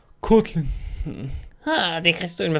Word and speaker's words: Kotlin: Ça se prononce à l'anglaise. Kotlin. Kotlin.